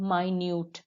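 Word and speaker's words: minute: छोटा, और दूसरा है माइन्यूट। बिल्कुल यही स्पेलिंग मिनट की भी होती है, लेकिन यहाँ हम इसे माइन्यूट पढ़ेंगे, ये यहाँ एडजेक्टिव है।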